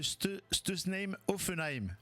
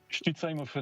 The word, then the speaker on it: Stutzheim-Offenheim: Le tennis club de Stame Ofenheim. Ah non, ça c'est mal prononcé ça.